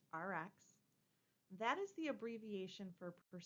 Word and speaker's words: Rx: It is RX, and we usually pronounce it just RX.